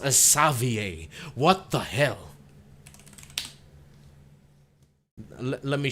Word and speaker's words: Xavier: that is Savier spelled as Xavier but it's pronounced as Savier.